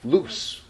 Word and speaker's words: loose: And we pronounce this lose. And this is loose, loose. My collar is loose and open, loose.